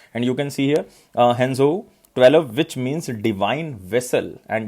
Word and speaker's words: Shenzhou: And name of this human spaceflight will be Henzhou 12. Henzhou 12. So you have to just remember. And even you can pronounce it as a Shenzhou.